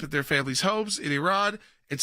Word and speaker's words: Iran: You say you support the Iranian people, but you're pronouncing our country's name wrong. Our country is named Iran, not Iran.